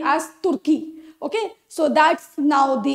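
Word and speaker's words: Türkiye: that turkey has changed its its name as turkey okay so that's now the international pronunciation of its name the correct pronunciation so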